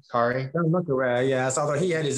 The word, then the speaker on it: Le Carré: I like those movies a good bit, but I know you like John Le Carré, how you pronounce his name, Kari? John Le Carré, yes, although he had his own moral ambivalence